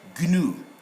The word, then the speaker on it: gnu: are there on G, most GN are nye in sound, but these are exceptional cases where they will be pronounced as diagnostic, not diagnostic, diagnostic, gnome, and then agnostic, and then gnu. So these must be pronounced.